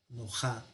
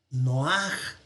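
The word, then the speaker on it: נֹחַ: Nojá, nojá, pero no es nojá, sino que este pataj, la rayita de abajo, se conoce como pataj furtivum. Significa que se pronuncia antes. Es un pataj furtivum, o sea, que se escapa. Entonces, en lugar de decir nojá, vamos a decir noaj.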